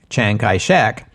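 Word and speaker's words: Chiang Kai-shek: in the English-speaking World by the anglicized pronunciation of the Cantonese form of his name Chang kek and that's what we'll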